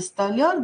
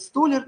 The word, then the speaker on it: столяр: верно-верно-верно никита звонят созвонимся столяр добыча части как делаем и ошибку в этом слове кто-то говорит сто лет не правильно говорит столяр маляр дояр есть такие профессии так